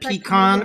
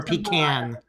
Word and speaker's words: pecan: both are acceptable pronunciations is it pecan or pecan or pecan almond yeah it's pecan pecan potato potato seriously it's